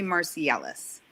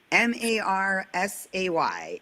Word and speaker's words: Marseille: It always gets butchered. I get Marseilles. So I tell people, think of it like Marsay, and you'll never say it wrong.